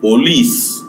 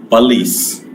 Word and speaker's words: police: And the last word that I have written here is not police. In Marathi, we say it police. In Hindi, this is police. Police in English.